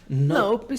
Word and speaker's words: nope: Quando pronúncia no really, really a palavra nope pronunciamos sem a letra e no final.